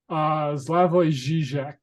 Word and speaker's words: Slavoj Žižek: People like Zizek, how do you pronounce the man's name? Slavoj Žižek.